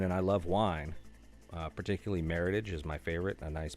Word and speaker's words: Meritage: is really good and that is not Meritage if you say Meritage I will beat you to death with the empty bottle Meritage rhymes with heritage a nice red blend